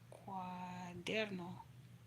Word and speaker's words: cuaderno: Cuaderno.